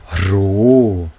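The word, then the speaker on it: ῥῶ: 르라고 발음되니 로, 유성음이고요. 숫자 값은 100이에요. 이 로는 셔 울리는 소리예요.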